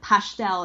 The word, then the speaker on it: pastel de nata: I'm supposed to pronounce it pastel and like not pastel de nata, which is these like